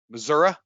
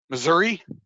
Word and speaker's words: Missouri: mom was born in missouri missouri missouri missouri however you want to pronounce it the show me